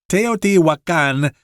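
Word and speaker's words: Teotihuacan: of Mexico City and the name of this is teot wakan Mexico it's kind of hard to pronounce but that's how you pronounce it in well I guess Mexican Spanish but I think that's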